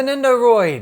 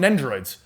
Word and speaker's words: Nendoroid: Yeah, the Nendoroid. Yeah. Oh, I'm excited for I always that. call it, Nendo Droid. Yeah, I've always called them Nendroids.